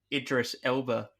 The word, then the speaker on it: Idris Elba: was a terrible accent I know that's actually Idris Elba his voice I didn't know that yeah am I pronouncing that correctly address Idris Elba yeah yeah